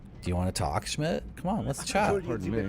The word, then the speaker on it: Schmidt: So like the time right now is the Herr Schmidt time. Schmid. Why is there a D in Schmidt? You don't pronounce the D at all, did you?